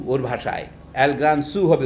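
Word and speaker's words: El gran zoo: ঘোষ এটা অনুবাদ করেছেন পশ্চিমবঙ্গে, নাম চিড়িয়াখানা, মানে এল গ্রান জু ওর ভাষায়, এল গ্রান সু হবে উচ্চারণ।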